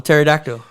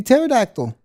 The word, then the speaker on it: pterodactyl: So let's just say the P could be silent. It could be pterodactyl.